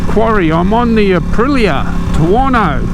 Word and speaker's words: Tuono: i'm on the aprilia tuwano rhymes with porno yes the beast done